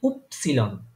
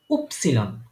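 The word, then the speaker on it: Ypsilon: গিয়ে আবার একটু চেঞ্জ হয় ওয়াই হয়ে যায় উপসিলন ওয়াই কে তারা বলে উপসিলন উপসিলন তারপরে হচ্ছে আমার পরের লাস্ট একদম যে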